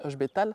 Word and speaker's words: Ech Betail: un personnage qui nomme h betal le i se prononce pas donc c'est h betal il a la capacité